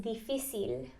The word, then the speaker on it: difícil: Am I saying it wrong? I'm saying it wrong. So the ending is difícil. Difícil. I'm getting it wrong. So difícil. Difícil. No? Almost. Wow, I can't get it. Say it again. Es difícil. Es difícil. Mhm. Es difícil. Es difícil. Okay. That's correct.